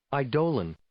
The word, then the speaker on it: Eidolon: this, that, or the other, but over here, Eidolon.